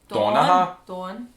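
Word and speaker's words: Donnchadh: Don was his name. Which sounds a little bit like the English name Dawn. Yeah, because that's how their accent. Dawn. Donnacha.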